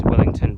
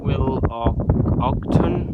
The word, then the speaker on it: Willoughton: will will Willington whatever I'll pronounce this Willington but it's willton willton um blly bridge